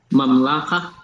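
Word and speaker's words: מַמְלָכָה: Mamlaha. Mamlaha. And the accent is here at the end. Mamlaha. Mamlaha. This, the root, just so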